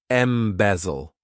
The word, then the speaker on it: embezzle: This verb has three syllables and the stress is on that second syllable. Embezzle.